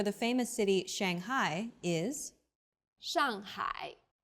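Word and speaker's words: 上海: city Shanghai is Shanghai the first syllable here is made of an initial and a final and a fourth falling tone the second syllable is made of an initial ha and a final I and a third falling then Rising tone hi Shanghai well done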